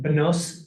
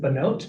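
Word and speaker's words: Bnot: but a leader in Benos Zion. We might pronounce it Benot, meaning daughters of Zion, a women's party that developed from from a Women's Commission of the Jewish National Fund.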